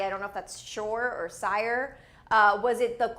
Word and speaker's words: Syre: people are saying Syre, which I don't know how you pronounce it. Shore? But I think it's Sire, right? Sire? Yeah. Sire.